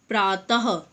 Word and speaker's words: प्रातः: ये क्या होता है, इनका उच्चारण हम ह की तरह करते हैं। मतलब इन्हें ह की ध्वनि में बोला जाता है। जैसे नमः, प्रातः, हम बोलते हैं ना, छः, नमः, प्रातः, इस प्रकार।